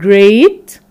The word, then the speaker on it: great: different letter pattern so we can find the long vowel sound a in the e a letter pattern like the word great or you can find the